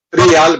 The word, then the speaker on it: trial: trial, e Giacomo giustamente mi ha detto trial, mi raccomando, trial, io l'ho detto 4 volte ho detto trial.